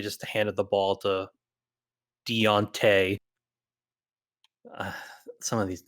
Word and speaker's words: Deontay: that how you say his name yeah it's Deontay there's no e in there I know it's spelled like okay you know what there's no